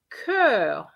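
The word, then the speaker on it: chœur: yes that's correct it's curve and curve it's the same pronunciation that was my little trap all right so cur is hot and cur with the h is the choir okay so it doesn't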